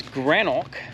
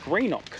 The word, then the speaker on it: Greenock: so great really nice they said that it's granok but if you're from the next town over which they play in their footy which is afl i do these things because it's not real footy so yeah if you if you talk to the people in the next town over they call it greenock because they're scottish settlers whereas from here in grenoch they're german settlers so they pronounce it